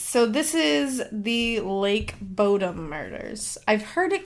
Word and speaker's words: Bodom: And it's So, this is the Lake Bodom murders. I've heard it called Lake Bottom, too, but I'm going to call it Lake Bodom because it sounds better. And it's b o d o m.